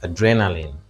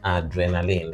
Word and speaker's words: adrenaline: and just for reminder this is adrenaline not adrenaline let's quickly look into that before we consider the options adrenaline in orthography it is stressed on the capital letters there and in transcription correspondingly on the second syllable so adrenaline not adrenaline by the way this is not so adrenaline second syllable all right so adrenaline